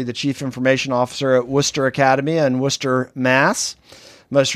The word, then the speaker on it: Worcester: You even got Worcester correct, which okay. is great. You usually take 3 or 4 times for that.